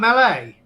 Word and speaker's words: melee: Are you on about melee? Yes, sir. As in fighting, it's melee because it's from French. So we say it as in the French word, it's melee.